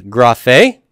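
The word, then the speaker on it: γραφῇ: works Groff a becomes Groff a notice I'm not pronouncing that iota so sounds just like that doesn't it Groff a with the ODA subscript so in with or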